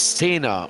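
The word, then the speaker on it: Sener: Royan Senna is making a little bit of a comeback, not to be now the surname is Senna, which is not Senna, and it's spelt S-E-N-E-R, not S-E-N-N-A, for those people that know their motorsport, like myself and Jim.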